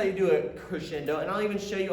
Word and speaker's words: crescendo: right boys and girls that is called a crescendo that's where you start soft you work your